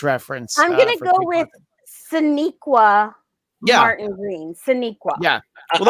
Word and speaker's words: Sonequa: And that's why I'm going to just go ahead and tell you, pronounce it Sonequa, and just go ahead and learn how to pronounce it.